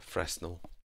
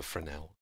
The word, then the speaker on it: Fresnel: non-metallic it will reduce the fresnel or the frenel it's pronounced as you can see